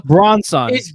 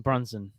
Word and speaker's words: Brunson: i'm sorry but that you butchered the name so badly though bronzong it's brunson b-r-u-n-s-o-n but i had